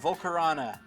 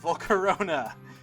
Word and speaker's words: Volcarona: Pick number 8, we got Volcarona. Why did I say it like that? Volcarona. It's because I was about to say its other name.